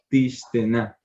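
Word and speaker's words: תִּשְׁתֶּינָה: Sí, se alarga la E, pero no se pronuncia la I. Sí, no se pronuncia esta yod cuando antes hay una segol. ¿Listo? Sí, Entonces será tishtena.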